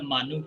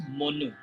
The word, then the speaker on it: Manu: And here, you heard the name of the Manu from me. We pronounce Monu, Monu or Manu.